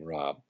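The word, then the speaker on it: Raab: Fred Rob spelled our AAB his pronounces his last name Rob who's the CEO or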